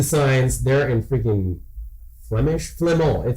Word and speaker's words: Flamand: They're in freaking Flemish, Flamand. That's how you say it in French.